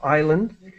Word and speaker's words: island: And so just for island, the S is silent, so island.